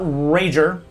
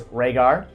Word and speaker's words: Rhaegar: my name is not rager hmm though a lot of people they make that mistake my name is Rhaegar mmm you know it's